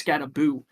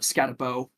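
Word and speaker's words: Skattebo: And I've just recently learned that I've been saying his name, his last name wrong because apparently it's Scataboo. Um not Scatterabau. I think Scatabo sounds a little better. Um but I think Buu is the official way to say it.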